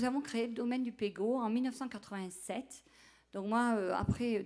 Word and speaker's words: Pégau: et puis il y a d'autres personnes qui prononcent pegau en français c'est vraiment pas très joli donc j'ai décidé d'enlever le tréa donc vous pouvez prononcer à la provençale Pego ou en français Pego voilà donc c'est un pichet à vin euh